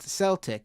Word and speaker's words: Celtic: It's pronounced Celtic. It's a soft C.